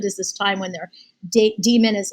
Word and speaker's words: daemon: I don't say daemon because it's like spelled that way, but I know probably the proper pronunciation is demon, but like an animal, protects them.